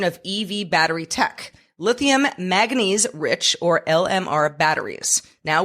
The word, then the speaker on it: manganese: All right, let's talk about one of the harder words to say in the English language, manganese. How do you say that? Is that right? Yeah, you got it right.